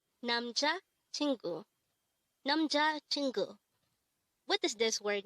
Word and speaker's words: 남자친구: 남자친구, 남자친구. This word is composed of 4 syllables.